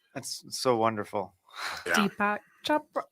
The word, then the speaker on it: Chopra: Deepak Chopra, right?